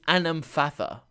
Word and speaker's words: Anamfatha: Plural version is Anamfatha. Singular version is Anamenfath.